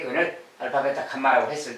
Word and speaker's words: 감마: 자, 여기서 이제 어쨌든 세 근데 예, 알파, 베타, 감마, 감마라고 있습니다. 이렇게 생긴 글자 요렇게 생긴 글자 뭐 갈매이 좀 날아가는 모양인데 감마라고 읽어요.